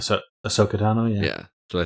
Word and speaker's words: Ahsoka: Ahsoka? Am I pronouncing that Yeah, right? so Ahsoka Tano, yeah.